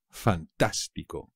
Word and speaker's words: fantástico: muy fácil también fantástico fantástico también es fácil pero no os olvidéis del acento en la segunda pico me parece fantástico